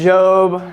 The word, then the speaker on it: Job: say it wrong and it is Jo I know when I was reading it and thinking about it I said job in my head a gazillion times and it's tough because